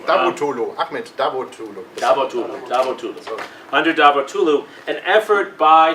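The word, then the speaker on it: Davutoğlu: Okay, I have trouble pronouncing his name. Davutoglu, Ahmed Davutoglu. Davutoglu.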